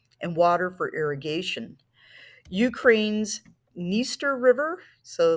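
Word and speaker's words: Dniester: water for irrigation Ukraine's niester River so like for our previous two there the D is silent uh this river is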